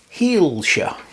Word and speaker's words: Hielscher: up the pronunciation but I believe the name is Lutz heeler h e i l s c h e r i don't know whether I pronounced that correctly but that's the way I read it anyway uh German manufacturer